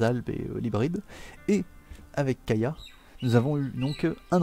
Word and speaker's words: Kaja: Kaya, il s'écrit Kaja, mais ils disent Kaya à chaque fois, donc on va prononcer comme eux.